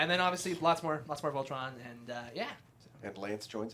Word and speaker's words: Voltron: That It's rhymes called with- Voltron. You might have heard It of it. rhymes with Tron, like the movie.